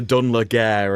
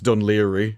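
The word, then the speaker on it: Dún Laoghaire: I went on a holiday once to Dunleary, and it turns out it was Dunleary. I'm like, there's no way it's spelled that.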